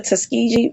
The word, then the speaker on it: Tuskegee: Um the Tuske is that the Tuskegee um men.